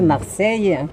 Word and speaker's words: Marseille: Les Marseillais prononcent Marseille. Marseille, oui. Il y a 3 syllabes et en français, il y en a 2.